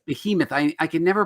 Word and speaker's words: Behemoth: We're going to be talking about a new comic book that's about to release called, how do you pronounce that, Mike? Behemoth. Behemoth.